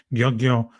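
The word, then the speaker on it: György: And I think the biggest name is this old man called, and Virag, forgive him for my pronunciation, Gyongyo Soros. I tried my best Hungarian in front of you.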